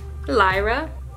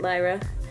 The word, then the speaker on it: Lyra: that one is called Lyra. I think that's how you pronounce it, Lyra.